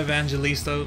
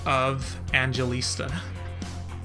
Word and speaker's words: Evangelista: A Linda Evangelista runway, or as I've seen way too many people say, Linda of Angelista.